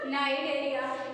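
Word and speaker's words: Cnidaria: सी नाइडेरिया, पढ़ेंगे क्या नाइडेरिया। ये तो आप लोगों को पढ़ने और लिखने का तरीका होता है कि इसमें क्या होते हैं सी साइलेंट हो जाता है।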